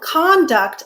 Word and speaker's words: conduct: Notice that as with conduct and conduct, when we stress the first syllable, conduct, record, it's a noun. When we stress the second syllable, conduct, record, it's a verb.